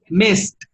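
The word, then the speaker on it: missed: Si el presente termina en S, no produce vibración. No produce vibración. El pasado es. So, how would you say that in English in past? The pronunciation is mist, mist, mist, mist, mist. Okay? Mist. Yes, because the S doesn't produce vibration. Okay, because it's a voiceless sound.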